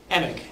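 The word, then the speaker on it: Emig: Emick.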